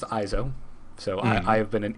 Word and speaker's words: EIZO: I wanted to call it Ezio. It looked like frickin' what's-his-name's name from Assassin's Creed. Oh, yeah, it does. Yeah. So I'm really... It's apparently pronounced EIZO.